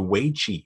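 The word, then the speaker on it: wei qi: improves so it's called the wei chi which is spelled w e i space q i and this is what's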